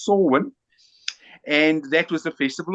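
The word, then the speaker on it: Samhain: of swin it's spelled Sam ha but it's pronounced swin and that was the Festival of the Dead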